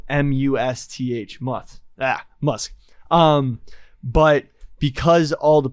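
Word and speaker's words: musth: up too much when they're in muff muff musk it's then but it's spelled m-u-s-t-h-moth ah musk um but because all the PO the poachers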